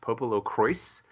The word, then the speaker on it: PoPoLoCrois: The official word is that it's pronounced Popolo Croix, but it looks like a Croix.